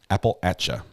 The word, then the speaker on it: Appalachia: Mountain Mama recovery addicts uh Recovery Act is pronounced Appalachia Apple Appalachia Appalachia Apple etcha please love this channel okay Mountain Mama I